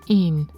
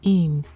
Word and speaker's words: en: In Danish, one is pronounced een, and this line would sound like twice one in Danish, twice een.